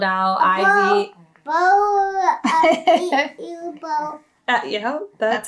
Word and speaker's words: Beau: Bow. Yeah, that's how you spell it.